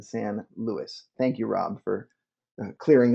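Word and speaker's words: San Luis: it Rob corrected me because I mispronounced San or miswrote san Louie when it should have been San Louis thank you rob for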